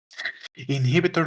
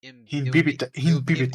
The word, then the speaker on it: Imbibitor Lunae: Inhibitor Lunae. Well, no, it's not inhibitor because there's an H there. It's Imbibitor. It would be imbibitor. Imbibitor Lunae. Imbibitor. I always say inhibitor. So Imbibitor.